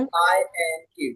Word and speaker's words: wink: W sound pronounce करना है तो जैसे चिड़िया की चोंच रहती है ना, वैसे आपको आपके लिप्स बना लेना है। व्हाट?